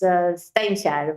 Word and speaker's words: Steinkjer: It looks like you could actually say stinker, but it's not pronounced that way.